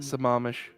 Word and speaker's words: Sammamish: Also, Chiba is throwing down a gauntlet for pronunciations of Washington state names. Oh. Yes, Skokomish. Skokomish. Issaquah. Yeah, Issaquah and... Sammamish.